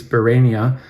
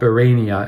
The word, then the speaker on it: Barénia: I realized just before clicking record the accent on the E, which usually turns E into A, so I imagine it's called Barénia and not Barénia as I had been saying it in my mind.